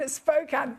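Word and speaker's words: Spokane: wait to see number 11 from Chrissy in Spokan thank you for reminding me how to say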